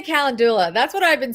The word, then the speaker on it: calendula: So it's Candelua. No, that's not right. That's not right. No, I say you own it. You pronounce it how you want. Calendula. All right, I say calendula.